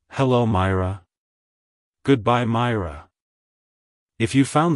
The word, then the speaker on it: Myra: gille in the 17th century it's pronounced as Myra Myra Myra to pronounce it correctly emphasize is the first syllable my Y and roll the r sounds softly in R like hello Myra goodbye Myra if you found the video helpful